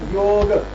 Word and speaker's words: Yoga: Yoga. So that you pronounce ga as ga, not neither yog with a halan nor yoga.